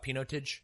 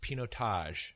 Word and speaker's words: Pinotage: and I think we used to call it P noted I believe it is actually pronounced pinot Tosh so that is the wine I am reviewing